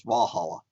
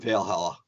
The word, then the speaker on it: Valhalla: that sounds so wrong I thought it was Valhalla not Veil Halla what difference does it